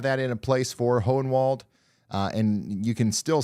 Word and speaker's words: Hohenwald: Did I say Hole in the Wall, Tennessee? No. The name is Hohenwald, I think. Something like that. That's how it's spelled. Not Hole in the Wall. Hohenwald.